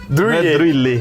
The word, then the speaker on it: Druillet: Mas, por exemplo, eu já aprendi que é Philippe Druillet. Druillet.